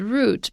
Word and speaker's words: route: route is a path i initially pronounced it as root but the way um half of america pronounces it root represented by bruce and half of it pronounces it route represented by me however i also think